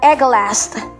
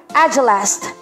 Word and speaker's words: agelast: Yan, may two versions po ang pronunciations niyan. Ang una po ay agelast. Agelast. O kaya ay agelast. Agelast. Pero karamihan na ginagamit o nakita kong mga ginamit sa mga dictionaries ay agelast.